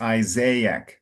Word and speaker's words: Isaac: And in English, it's Isaac. So a little more of an emphasis on the first A. And it's very rare in English. You have a word with two A's in a row.